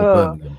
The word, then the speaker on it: Birmingham: is taking place in my own hometown of Birmingham, or Birmingham as it's properly pronounced.